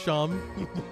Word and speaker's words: Seam: Seeing the name Seam and then it's pronounced Sham Shop.